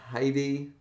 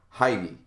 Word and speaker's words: Hide: this character is called it's h-i-d-e and in a japanese anime from the 90s they were con pronounced heidi so i've pronounced them with heidi ever since but it doesn't really